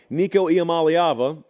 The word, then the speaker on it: Nico Iamaleava: Nico Iamaleava, because yes, we do believe in pronouncing college football players' names right on this